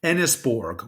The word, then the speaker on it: Enysbourg: And the reason I pointed out the name of the country is Enisborg, which is spelled Enysbourg, is a name which is compiled from Empire, New York State, Borg.